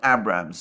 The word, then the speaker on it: Abrams: allies, unless the United States agreed to supply Abrams tanks to Ukraine. And by the way, I understand that the correct pronunciation of the name of that tank is